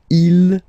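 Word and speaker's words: ils: last one okay so you can notice that even if you've got this S at the end and then here you don't have anything well you pronounce them the same way okay IL singular form ill plural form okay final not pronounced okay so let's see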